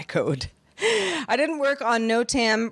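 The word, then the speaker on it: NOTAM: I didn't work on no Tam pronounced uh no Tam so I don't feel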